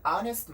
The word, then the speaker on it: honest: 또 하나, H가 묵음되는 경우들이 있죠. 여러분들이 많이 사용하시는 honest라는 단어도 스펠링의 시작은 자음이란 말이에요. 근데 소리를 들어보면은 honest가 아니라 R라는 모음으로 시작이 되죠. 그렇기 때문에 an honest man 이렇게 발음을 해줄 수가 있는 겁니다.